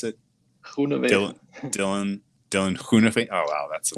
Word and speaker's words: Groenewegen: So, how do you pronounce it? Groenewegen.